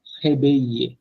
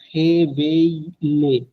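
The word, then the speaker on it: réveille: ঘুম থেকে উঠাটাকে আমরা বলতেছি জো মো হেবেইয়ে, নট হেবেইলে, না হেবেইলে না। ফ্রেঞ্চে মোস্ট অফ দ্য কেসেস আপনার ডাবল এলটা উচ্চারণ, ডাবল এল যদি একসাথে থাকে ওইটা উচ্চারণ হয় না।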